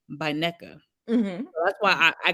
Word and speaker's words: Nneka: she was like, "Oh, that's not her name. You pronounce it this way, Mm-hmm. Naeka, Nneka. Naneka." I don't know. She said it like I said. I got to get more people saying it correctly because I just hear everybody. The reviewers are saying Neka. The people on the show are saying Neka. Ashley is even saying Neka.